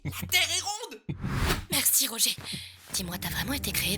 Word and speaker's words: Roger: C'est pas Roger. You don't pronounce the R, huh? Roger.